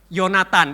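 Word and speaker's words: יהונתן: Jadi Yehonatan itu tulisannya itu secara Ibrani itu Yehonatan, tapi bacanya apa? Yonatan. Itu karena ada perubahan cara baca, ya. Kadang-kadang itu ho-nya itu dihilangi, jadi langsung Yonatan gitu.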